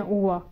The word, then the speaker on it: uova: वो एग्स का बताया, अंडे को कहते हैं ओवा। और स्पेलिंग्स इनके ऐसे करते हैं UOVA, क्योंकि इटालियन में जो ए है उसको साउंड जो है वो आ करते हैं, उसको आ बोलते हैं ए को, तो एग को